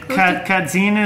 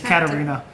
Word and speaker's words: Katarina: Oh, so the name that we tried to guess earlier, I said Kadzina. It's Katarina.